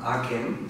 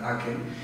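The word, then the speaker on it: ACEM: Tenemos también a Jare Holem, profesor catedrático de la Universidad de Oslo, que creó la meditación científica, Aken, se escribe A-C-E-M, pero se pronuncia Aken, y fue un boom en los años 60.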